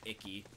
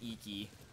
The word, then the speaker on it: Iki: Because I kept pronouncing it Icky. It's Iki.